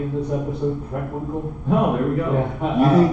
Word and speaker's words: Preckwinkle: I'm going to pronounce her name correctly in this episode. Preckwinkle.